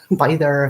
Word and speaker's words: Byther: are but by either by their farm so we put an end or are on the end of by the to make by their arm it was just it